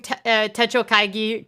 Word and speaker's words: Techo Kaigi: comments Let's uh go in that I am pronouncing Techo kaigi correctly thank you journaling broom um you've really